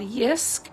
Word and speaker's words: Jysk: I got the table at a store here in Canada called Yisk. It's spelled Jysk.